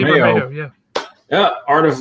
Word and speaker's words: Bermejo: We also have a huge, beautiful Lee, say his name right, Bermejo? Bermejo. Yeah, Lee Bermejo.